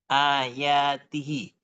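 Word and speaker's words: آياته: Lalu ti, bukan timah. Mengapa? Karena itu adalah sebuah mudhaf. Ini merujuk pada h, kata ganti hi. Ini merujuk pada kata ganti "hai". Maka kami membacanya dengan ayatihi, dengan tanda-tanda-Nya.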